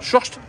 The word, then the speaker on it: Short: Ouais, ça se prononce, c'est assez bizarre. Short.